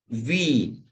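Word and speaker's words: Wien: When I comes first, E comes afterwards, then it is pronounced as seen, like in seen. So I first, E afterwards, we pronounce it like E. And when E comes first and I comes afterwards, we pronounce it as I.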